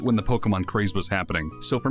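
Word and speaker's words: Pokémon: the five people who are gonna comment it's pronounced pokemon not pokemon i know i'm just i'm not obnoxious originally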